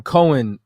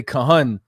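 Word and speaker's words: כהן: word I'm looking at the word what you're pronouncing Cohen what we would say Kahan in Psalms 110 and4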